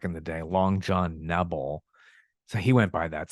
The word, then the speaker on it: Nebel: It's not Nubble, it's Nebel.